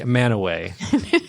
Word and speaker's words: Mantua: Mantua. There you go. And now I can say Manaway because I apparently could not listen earlier.